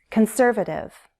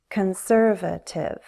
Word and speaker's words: conservative: Conservative. Conservative. Conservative. Primary stress is on the second syllable, and we often flap our T so it will sound like a D.